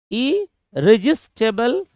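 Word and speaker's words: irresistible: तीसरा क्वेश्चन है इरिस्टेबल, इरिजिस्टेबल, इरिजिस्टेबल, प्रोनाउंसिएशन पे ध्यान देना।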